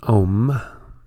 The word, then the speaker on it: Om: the destroyer and so when you've pronounced ohm you see here a the a sound emerges from the throat originating in the region of the navel for you rolls over the tongue the M ends on the lips a is